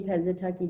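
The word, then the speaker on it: Pennsatucky: so what was the characters how do you pronounce our name tiffany pantatucky tiffany penza tucky doggett it's a infamous role everybody loves you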